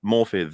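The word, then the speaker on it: Morfydd: or is it because morphid is how you're supposed to pronounce that the Double D is a like a th sound in Welsh and then uh what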